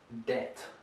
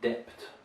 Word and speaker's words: debt: you can see a silent b here so debt not depth there's no b in here uh we have many